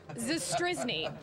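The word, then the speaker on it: Zastryzny: Can you give me the pronunciation? Rob Zastrizny.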